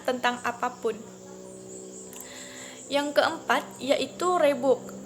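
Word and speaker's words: Reebok: Yang keempat, yaitu Rebook. Rebook sebenarnya adalah pelafalan yang lebih mudah dari RH e-book, sebuah bahasa Afrika Belanda yang berarti kijang.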